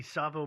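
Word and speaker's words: Tsavo: these man-eaters sorry okay today's story is the savo man eaters uh and this is a listener's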